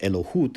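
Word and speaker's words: אלוקות: And when he says elokus, that's a word which is pronounced Elohut in modern Israeli Hebrew, and it means divinity.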